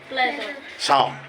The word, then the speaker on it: psalm: PSALM शाम, इट इज शाम।